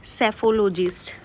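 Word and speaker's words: psephologist: तो आज का फर्स्ट वर्ड है सेफोलॉजिस्ट। सेफोलॉजिस्ट। यहां जो है ना वो पीस साइलेंट है। राइट? एस से पहले जब भी पी आएगा ना वो हमेशा साइलेंट होगा।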